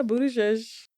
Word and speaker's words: Buttigieg: Yeah, Buttigieg.